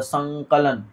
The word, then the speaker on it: संकलन: और जैसे समधन कलन लिखे तो संकलन, संकलन, तो संकलन बोल रहे हैं तो यहाँ पर अंग का उच्चारण हो रहा है।